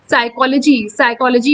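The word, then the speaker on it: psychology: साइकोलॉजी में P silent है।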